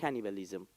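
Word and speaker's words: cannibalism: کاهن بل کنیبن کانیبالیسم اینجوری اگه بخوام تلفظ درسته لاتین ش میگه کانیبالیسم آدمخواری از این گرفته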